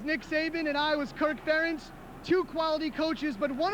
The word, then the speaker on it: Ferentz: all of his success Kirk Ferentz still manages to have his name mispronounce time and time again Des Moines musician Pat McManus best known for his work with rock and Prevention tries to make it easy with his song ference rhymes with parents take a listen that